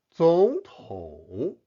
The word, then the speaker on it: 总统: 总统 Note the tone change where 总 should be pronounced in the second tone.